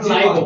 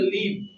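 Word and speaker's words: live: হ্যাঁ স্যার এটার উচ্চারণটা আমরা দুই ভাগে পাই আবার লাইভও পাই লাইভও পাই না লিভ অর্থ হচ্ছে বাস করা ইফ you sound লিভ then it ইজ a verb and the meaning of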